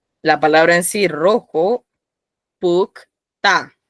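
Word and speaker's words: 붉다: Ahora aquí ven la palabra en sí, rojo, pukta. Pronuncien, pukta.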